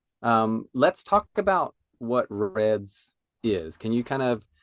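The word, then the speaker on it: RED-S: for sure so as we keep saying Reds Reds stands for relative energy deficiency in sport it's spelled r d-s but it's pronounced red what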